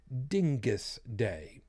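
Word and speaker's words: Dyngus Day: Yes, I pronounced it correctly, Dingus Day.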